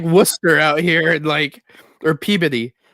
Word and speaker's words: Worcester: Well, it's just like Worcester out here, and or Peabody. It's it's spelled Peabody.